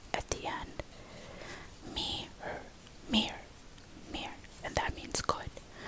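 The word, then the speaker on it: mirë: here or not, but mira or mir, you can say it without the and this means I'm good, mir. I'm trying to think the way that you could say this. Am I, me, sounds the same as me. Me, her, mir. And you just add an r at the end or an r at the end.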